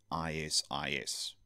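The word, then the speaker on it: IS-IS: do me a favor please pronounce it Isis because if you try and make it a shortened word people are going to be a bit suspicious when you're talking about your Isis network if you know you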